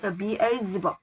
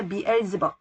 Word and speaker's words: Beelzebub: 자, 바알세불을 영어로는 B-E-L-Z-E-B-U-B에서 Beelzebub. Z 발음이야. Beelzebub.